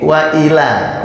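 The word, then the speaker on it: وَإِلَىٰ: jadi pokoknya di sini jangan ditekan ya karena nanti artinya akan berbeda ini waila waila kalau wailla jangan wailla waila gitu bacanyaah waa wa nah gitu ya wabika Nah karena kalau dibacanya nanti wailla jadi salah artinya karena kalau waila itu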